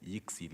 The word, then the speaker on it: Yixi: Honorable Chair know that the pronunciation of our name is Yixi Limited, and also it's not a Chinese name.